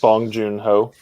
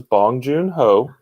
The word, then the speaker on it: Bong Joon-ho: uh uh same director who did snowpiercer yes bong joon-ho yeah he's it's fantastic what's that what did you call me though i did not call you anything his name is bong joon ho i believe that's that's how you pronounce it